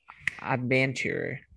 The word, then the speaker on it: adventure: está mi tablita aquí todas las palabras que terminen en -re prodúcela como si fuera cheer okay Por ejemplo Cómo